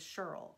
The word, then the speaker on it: Shirl: at tranquil stitches and I'm not mispronouncing her name it is Shirl SH IRL if you haven't met